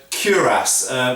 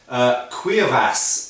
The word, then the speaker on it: cuirass: Originally in French, and it comes from French of course, it would be probably, and I always get criticised by the French viewers for my pronunciation, but it should be pronounced cuirass, I believe.